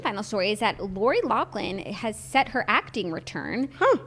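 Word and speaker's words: Loughlin: calls at gac family let me explain first lachlan will reprise the role of abigail stanton pronounced her name so weird even though i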